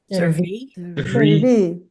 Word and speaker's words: serví: Serví. Serví. Serví. And we have to punch the E at the end a little bit harder.